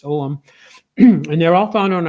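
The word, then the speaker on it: Ogham: there was a Celtic om or people sometimes pronounce it ogam I used to pronounce it ogum but it's omam and they're all found on our site but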